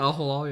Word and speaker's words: Al Hilal: I know Flamengo, they play Al Hilal. I think that's how you say it. Al Hilal, yes.